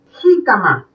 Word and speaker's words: jícama: Jícama, porque yo la siento en la I.